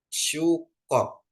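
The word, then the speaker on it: סוכות: ya jadi bacanya syukot sukot ya Bapak Ibu Ya ada samek Ada kap ada untuk O ya dan tap bacanya dia sukot ya Bapak Ibu Ya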